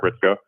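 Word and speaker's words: Hritsko: Uh, again, my name is Ritzko. Can I spell that for everybody?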